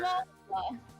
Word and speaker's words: SmolLola: It sounds like ShyLily. It's like, okay. Similar syllables. Her old name You're gonna be is doing a bigger ShyLola. deep dive onto her. SmolLola.